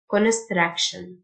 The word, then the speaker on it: construction: TIO تنطق شه Construction.